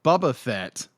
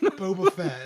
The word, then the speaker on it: Boba Fett: actually uh book of book of book of Bubba Fett is going to be shorter Bubba Fett I said it wrong I've always redneck Boba Fett is what I'm get that is Boba Fett